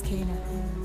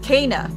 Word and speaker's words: Kena: My name is Kana. Kana. What are you two doing? That's how you pronounce it.